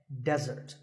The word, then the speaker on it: desert: a meal and it should not be confused with desert here the stress is on the first syllable which is death desert now I said that